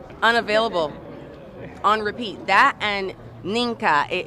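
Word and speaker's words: Mnike: on repeat that and ninka it it is spelled m n i k e she almost got it right almost but that song was massive like I mean minker it's better than M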